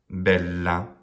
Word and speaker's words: bella: The la is short. The bel is long, not because the vowel is long, but because the syllable ends with a consonant. Bella. And this word sounds exactly as it does in Italian. So if you want to hear an Italian say the word bella, they'll do a perfect trochee.